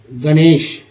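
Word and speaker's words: Ganesh: यहाँ पर जी का उच्चारण जी नहीं करेंगे बल्कि ग करेंगे, क्योंकि ये हिंदी को इंग्लिश किया गया है। तो गणेश, ठीक है, गणेश।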